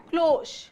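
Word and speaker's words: cloche: इसका प्रोनाउंसिएशन है क्लोश।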